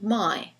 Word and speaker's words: my: Possessive adjective my. Very clear in isolation, my. But in the sentence, it sounds, here's my book. You can hardly hear it.